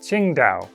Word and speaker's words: Qingdao: For once, we have a dinosaur made in China that was found in China, and the city it was named after is pronounced something like Qingdao.